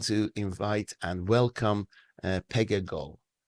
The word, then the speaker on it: Pegah Gol: you I want to invite and welcome uh Pega go pronounced correctly yes it is correct thank you so